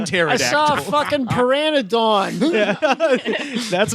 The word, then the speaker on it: pteranodon: saw a fucking pteranodon.